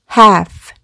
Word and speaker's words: half: 그럼 앞에서부터 읽어보면 묵음 half 라고 읽습니다.